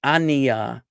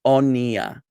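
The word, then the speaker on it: אֳנִיָּה: People don't realize that. They think it's Aniya. Aniya is not totally wrong for Ashkenazim, but if you are using, especially if you're using Sephardic pronunciation, this would not be Aniya, this would be Oniya.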